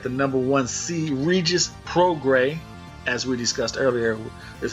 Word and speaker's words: Prograis: quarterfinal you got the number one see Regis pro gray as we discussed earlier is how we're going to pronounce the name so we're gonna say it